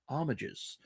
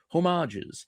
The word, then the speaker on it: homage: starting off with Doom homages, homages, homages, however you want to pronounce it. I believe all three are properly correct, depending on what language you speak. It is a French word, after all.